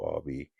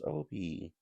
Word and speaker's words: Obi: Obie what's a Obby he's like Obie that's my name and when jigsaw says hello Obby jig actually mispronounces his name on the on the on the tape and they just never fixed it yeah so apparently when